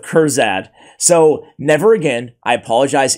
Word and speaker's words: Kurzad: two years I've been pronouncing this dude's name as khazard instead of kurad so never again I